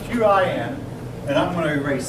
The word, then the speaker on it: Qin: Now, the Qin dynasty, spelled Q-I-N, and I'm going to erase some of this.